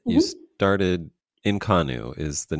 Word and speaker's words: Inconnu: Cal you started in California right you started inonu is the name of your thing did I pronounce that correctly inonu yep Inu how how long did you do